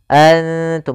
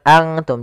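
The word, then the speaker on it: أنتم: huruf nun itu sendiri Antum bukan Antum jadi jangan semua huruf ikhfa itu baca Ang Ang Enggak karena dia ikhfa itu menyamarkan huruf kepada huruf setelahnya yaitu nunnya disamarkan kepada huruf ta antumiduna Kemudian pada lafal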